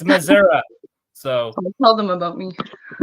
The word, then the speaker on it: Missouri: that's how people Missouri people Missouri will be like Missoura it's Missoura so tell them about